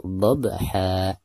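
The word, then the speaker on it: ضبحا: Pertama kita bahas ba-nya ya. Huruf ba ini adalah merupakan salah satu daripada huruf qalqalah. Dan cara membacanya itu harus dipantulkan dengan suara pantulan yang tipis ya. Dhab, seperti itu.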